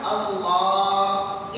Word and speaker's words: اللہ: اکبر بولے، اللہ اکبر۔ آپ جو اللہ کی لام ہے نا اللہ، اس کو کھینچ سکتے ہیں، اس کو